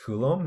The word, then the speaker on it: Coulomb: new unit called a Coulomb yeah this is pronounced Coulomb named after a scientist with a symbol C